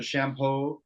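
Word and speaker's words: Champoux: It's this is pronounced the shampoo. Oh, shampoo. This is the Shampoo, yes, just like the head soap.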